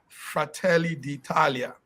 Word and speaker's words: Fratelli d'Italia: In Italian language, we pronounce it Fratelli d'Italia.